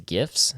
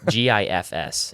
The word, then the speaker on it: GIF: It's GIFs for sure. Absolutely. It's GIFs. It's not. There's no J. Just stop. Okay. So GIFs. The word gems is spelled with a G. To be fair to both sides. And that's the J sound.